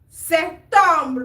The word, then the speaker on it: septembre: Avril, mai, juin, juillet, août, septembre, not septembre, the P is silent.